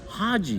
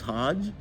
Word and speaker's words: Hodge: told these people that the E is silent in America? Your name is Hodge?